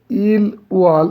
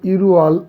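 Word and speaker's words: 일월: ইরওয়াল booth, ইল ওয়াল উচ্চারণ হবে ইরওয়াল, অর্থাৎ জানুয়ারি।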